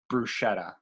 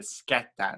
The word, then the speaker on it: bruschetta: give her a pass so the next ones people say bruschetta oy yeah i was even guilty for a while of not pronouncing it's the skepta that's like yeah that's where people get hung up on exactly now